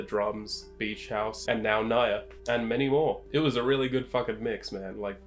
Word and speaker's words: Ngaiire: It's spelled as N-G-A-I-I-R-E. But it's pronounced Naya, I believe.